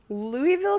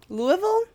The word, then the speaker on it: Louisville: so so in 1900 louisville kentucky Louisville Louisville I always say Louisville it's not it's Louisville I think is how they pronounce it we say Louisville because we are awful Louisville Kentucky had one